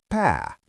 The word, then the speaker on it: pää: The word for head is p like p but with a long a sound.